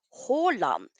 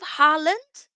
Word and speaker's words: Haaland: And with Håland as well, the two A's would make the last letter of the Norwegian alphabet, which is the letter O. O, Håland. Instead of Holland, if you ever see a Norwegian name with two A's, it will make the sound O.